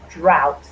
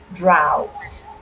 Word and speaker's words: drought: stage to the next word drought excellent yes drought this is a funny pronunciation if you look at the spelling it